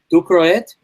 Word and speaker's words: Ducrohet: Cedric will correct my pronunciation if I get it wrong. So Xavier Ducroet, Ducrohet.